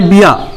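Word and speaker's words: ビュ: तो चलिए पहले बी को लिखते हैं 1 2 दाक्तेन बी, उसके साथ में या प्रोनाउंसिएशन होता है बिया। 1 2 बी प्लस यू प्रोनाउंसिएशन आता है ब्यू।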